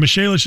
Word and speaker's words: Michelis: Michelis is spelled like Michael is.